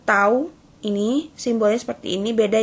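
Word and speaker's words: τ: Interval waktu pemberian itu tau, bacanya tau.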